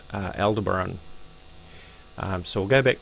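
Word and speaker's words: Aldebaran: Let's just see how that's pronounced if I'm pronouncing that correctly. Al Deberon.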